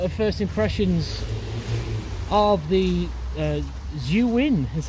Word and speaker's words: Zhiyun: Okay, so this has been the sort of first impressions of the Zhiyun, is how you pronounce it, actually.